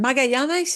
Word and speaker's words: Magallanes: And Magallanes is what they call Magellan. Yeah, that's the pronunciation for Magellan in Spanish.